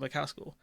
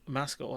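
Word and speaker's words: Maskell: next election, this beyond Rachel McKascal. Oh, sorry, Rachel Mascal. I keep mispronouncing her name as Macascal.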